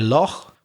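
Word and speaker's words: lough: Or for Ireland, we say loch, which is spelled L-O-U-G-H.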